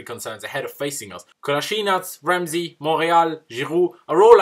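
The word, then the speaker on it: Kolašinac: been told by my Bosnian mate, the correct pronunciation of his name, Kolasinac, and Monreal are out injured, they will probably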